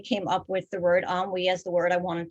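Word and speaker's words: ennui: um medical manual so i'll read from that on we one pronunciation on we on we also henry two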